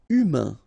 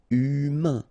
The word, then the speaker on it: humain: Humain. Remember, H doesn't exist. So U, then A-I-N together. Un. Humain. Humain.